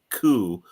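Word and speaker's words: 九: 4 is pronounced she, which is the same pronunciation as death. 9 is pronounced ku, which has the same pronunciation as agony or torture.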